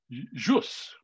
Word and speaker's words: jus: i is often actually written with a little curl on it and pronounced the way we pronounce a j so jus justus justicia justice obviously